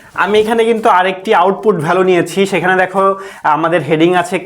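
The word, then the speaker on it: valign: ব্যবহার না করে আমরা ভ্যালিন অ্যাট্রিবিউট ব্যবহার করে আমরা এটা করতে পারবো। জিএন, এখানে জি এর উচ্চারণ হবে না, হ্যাঁ ভ্যালিন, ভ্যালিন অ্যাট্রিবিউট আমরা ব্যবহার করে কিভাবে কোডটা করি সেটা তুমি দেখো।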